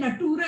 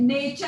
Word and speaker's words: nature: नहीं, बोले टीचर है, देखे देखे ये बुक में नटूरे लिखा है। टीचर ने देखा, बोले अरे ये नटूरे नहीं है, नेचर है, नेचर, NATURE।